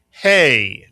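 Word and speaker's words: ה: It makes the sound of the English letter H. Mitsuyan. The letter is called hey Mitsuyan.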